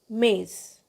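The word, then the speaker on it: maïs: the walls for example now may if the EXO is not there will pronounce it may otherwise with EXO it should be pronounced mais both I and s are having sons lemaise which means sweet corn otherwise it will be May which means but next example is Noel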